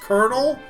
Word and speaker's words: colonel: It's that's pronounced colonel, but it should not have been pronounced colonel, right?